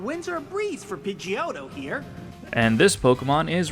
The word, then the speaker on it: Pidgeot: How do you pronounce this Pokémon's name? If you said Pidgeot or Pidgeotto, then you'd be wrong.